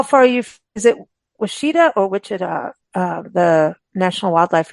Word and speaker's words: Washita: Is it Washita or Wichita?